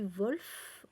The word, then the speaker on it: Wolf: cœur ouvert de Leslie Wolf Wolf Wolf je pense donc au ÉtatsUnis ça se prononce vraiment en W chez galimar dans leur